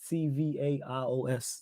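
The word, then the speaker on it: Ferencváros: It's Ferencvaros. That's how you say it.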